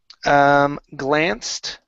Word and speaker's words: glanced: All right, let's go to the word glanced right here. Okay, give me a T sound at the end.